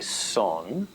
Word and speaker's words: son: also the cuban song which is spelled s-o-n but they say song and it means a